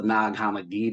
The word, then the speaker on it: Nag Hammadi: I think it's the Nag Hammadi.